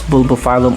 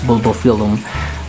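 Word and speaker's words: Bulbophyllum: film um not sure some pronounce it that's bulbofalum other as bulbofilam but basically this is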